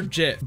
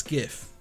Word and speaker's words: gif: I love everyone keed is it gif or Jif gif or Jif it's literally gift it's the first one you put it's that's how you spell it you don't spell it with a J it's spelt with a gee-gees do not go G they go get so it's gif Thank You Julia Thomas